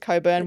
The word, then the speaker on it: Cockburn: I don't know why it's spelled cockburn and you pronounce it coburn.